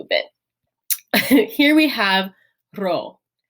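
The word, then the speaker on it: rho: Here we have ro. Ro is like our English R sound, hence the name.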